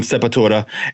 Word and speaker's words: Sepultura: and if you notice, I'm pronouncing the Sepultura because when I first heard of the band, I was working at Tower Records in the Village, and my boy was Brazilian, and he was the one that hyped me up to it, and that was how he pronounced it.